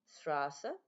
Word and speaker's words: Straße: I have created the string Straße. Okay, and another one, which is Straße. That's how you pronounce it.